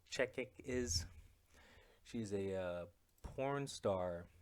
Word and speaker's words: Chechik: Anyway, so I think you guys know who Adriana Chechnik Chechik is. She's a porn star. Wait, I think I said her last name wrong.